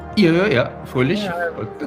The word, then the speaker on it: Fröhlich: Fröhlich, I'm saying it right. Yeah, Fröhlich. Yeah, That's Fröhlich.